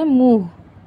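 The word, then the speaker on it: मुख: আও মুখ ধোকার আও মুখ হিন্দির উচ্চারণ হবে মুখ হালকা একটু হ উচ্চারণ হবে হাতে ময়লা এর হিন্দি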